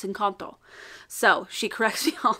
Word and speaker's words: Encanto: to pronounce it properly it's not encanto mom it's in kanto so she corrects me